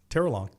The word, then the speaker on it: Terrelonge: Terrelonge. Oh, very good. Terrelonge. Very good. It's a silent E at the end? Yeah, it depends. It is French. How do you say it? Terrelonge.